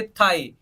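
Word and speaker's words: thigh: Next देखिए थाई, THI पढ़ेंगे तब भी वो थाई हो जाएगा।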